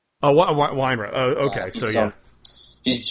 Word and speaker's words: Weinrib: But it's, I think it's pronounced Weinrib. Oh, Weinrib.